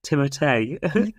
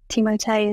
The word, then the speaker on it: Timothée: With I think you meant to say his name is Timothée, and I really like that. Has anyone else seen that film? Yeah, I haven't seen that film, no, but Timothée is the way.